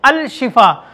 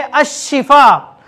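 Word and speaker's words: الشفاء: आपने देखा होगा बहुत से लोग अपनी बच्चियों का नाम अल शिफा रखते हैं, अल शिफा, जबकि सही है अशिफा।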